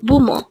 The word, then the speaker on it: 부모: pumo again it's pumo this pronounced as a two syllable word the first syllable is bu second Mo pronounce it with me it's bumo again boo what is the